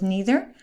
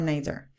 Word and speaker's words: neither: either whichever you like the same with neither or neither so either we can use